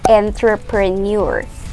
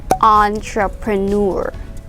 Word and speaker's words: entrepreneur: french sound uh because this word is actually borrowed from french so entre entrepreneur we say it like that and an entrepreneur is